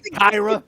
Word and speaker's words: Kira: The man wanted to pronounce it properly. Right. Call me Kyra.